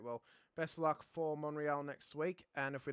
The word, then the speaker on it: Montreal: I wanted to congratulate you on your sophistication there of the silent T in Montreal. It is a silent T.